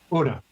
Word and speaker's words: Una: How do you spell it? Una.